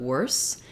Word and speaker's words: worse: to visualize it uh For Worse the final e is silent and you just make sure that you have a silent s sound not wor but worse and then for worst um